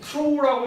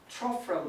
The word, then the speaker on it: trough: 얘는 트로우라고 읽기도 하는데 일단 영영사전을 찾아보면 스탠더드 프로넌시에이션은 트로우가 아니라 enough 발음하듯이 트러프라고 되어 있어. 근데 트로우라고 발음해도 틀렸다고 하진 않아.